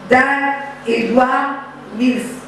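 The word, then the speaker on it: Dag Heward-Mills: Son mentor c'est Dag, l'évêque Dag Edouard Mills. Alléluia. Est-ce que j'ai bien prononcé? Hein? Dag Edouard Mills.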